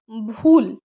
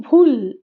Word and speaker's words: ভুল: একইভাবে ধরো একটি শব্দ ভুল এটি এক ঝোঁকেই ভুল উচ্চারণ হয় এখানে একটি দল এবং একটি দল হচ্ছে রুদ্ধ দল তাইতো এই ল ল টা কিরকম ভুল এরকম হচ্ছে ভুলো বা এরকম নয় ভুলো যদি হয়ে যায়